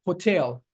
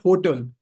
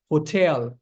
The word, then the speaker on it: hotel: minutes that, you know, when you put stress on the second syllable, hotel, that's how you correctly pronounce this word. It's not hotel. Please do not. And and if you've been pronouncing it like this, stop pronouncing it like this. It's hotel, not hotel.